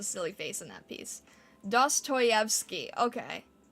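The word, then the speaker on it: Dostoevsky: face in that piece dosstoyvski okay dosstoyvki Okay, thank you. It doesn't quite look how it's spelled. Dos choy.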